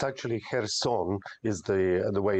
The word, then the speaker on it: Kherson: is looking at this Russian Retreat from uh Kirsten very very cautiously why is that uh it's actually her song is the the way it's pronounced look um